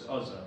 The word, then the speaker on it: Uzzah: abinadab had two sons azza and ehayo maybe it's ozza if you go to how to pronounce dot com it's ozza but it was commonplace